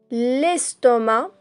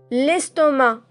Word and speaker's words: estomac: Donc vous avez l'intestin grêle, le foie, l'estomac, on ne prononce pas le C, le cœur, les reins, ces deux petites parties, le gros intestin, les poumons et le cerveau.